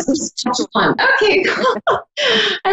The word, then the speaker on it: Saskatchewan: I don't know how to pronounce it. Fort Saskatchewan. Saskatchewan.